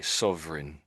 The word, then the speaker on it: sovereign: So it's got sort of reign and a king has a reign at the end where the r starts. That's basically the word reign there, isn't it?